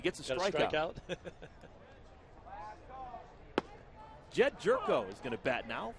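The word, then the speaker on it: Gyorko: there you go and it's jerko but it's spelled g y o r KO o it's jud's first name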